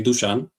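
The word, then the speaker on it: Dušan: Also, one more thing before I forget, my how you pronounced my name is actually Dusan. Dusan. Okay. But all the native English speakers call me Dusan, which is fine.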